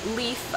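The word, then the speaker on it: Leif: The next name, we actually have a friend with this name, the name Leaf.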